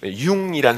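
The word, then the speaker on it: Jung: 그래서 여러분 J-U-N-G, 융이란 사람이 있죠? 융. 그러면 이 사람들은 중이라고 안 읽고 융 이렇게 읽어요.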